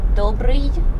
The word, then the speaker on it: Добрый: Добрый вечер. Добрый вечер. You know that funny letter was the little hat on top of Looks it. like a pyramid. Looks like So you literally pronounce it y.